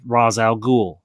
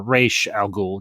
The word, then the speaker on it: Ra's al Ghul: episodes that deal with Ra's al Ghul or Raish al Ghul, depending on which yeah. way you pronounce it.